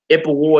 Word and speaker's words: Ipuwer: Ipuwer is spelled I-P-U-W-E-R.